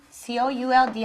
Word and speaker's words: could: Se pone la persona, aquí está nuestra personita, P de persona, y después viene could have, could, C-O-U-L-D, acuérdense que la L no se pronuncia, could have.